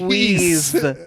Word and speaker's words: Louise: They are different. Luis. You would see Luis right there. That is Louise. That is Louise. Louise with a Z sound. That's how I would pronounce the name.